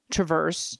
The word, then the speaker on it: Traverse: week caught my ear you did get a correction on Traverse is that what we came up with emphasis I think it's Travers Travers I'm the one that